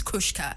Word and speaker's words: Kurzca: So how do you pronounce your name? Okay, Kurzca. Kurzca.